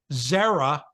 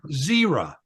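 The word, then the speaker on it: Zerah: pronounce the next one you could you could pronounce that Zara or Zer either one so he's the he's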